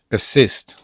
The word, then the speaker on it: assist: Assist. Assist. Assist. nieakcentowana. A to jest e akcent jest 100% assist podwójne s dlatego, że akcentuje się nie nie pierwszą samogłoskę nie pierwszą samogłoskę, ale drugą y assist, a więc poprzedzająca ją współgłoska s jest podwojona.